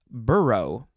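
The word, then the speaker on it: burgh: b-u-r-g-h and it tells me that it is pronounced burrow there's no o in there but that's how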